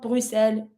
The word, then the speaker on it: Bruxelles: Some people might pronounce the X like Bruxelles, but I don't. Bruxelles is fine.